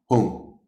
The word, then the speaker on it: Hung: So and there's 3 syllables: Om, A, and Hung. Hung, okay, H-O-O-N-G. But I think when it's spelled out, it's H-U-N-G.